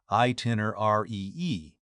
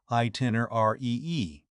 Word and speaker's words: itinerary: Pronounce it slowly. Itiner e.